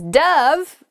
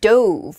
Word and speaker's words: dove: one was slightly better all right next is dove dove can be a bird it's a white bird it often represents peace and it can also be pronounced douve which is the past tense of the verb